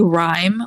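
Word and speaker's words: Rime: I might mispronounce it I'm going to say rhyme but it's spelled r i m e and I guess it's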